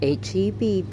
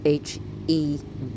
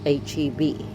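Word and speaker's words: H-E-B: And then I had It's H EB people. It's not Hebrew. It's pronounced H EB.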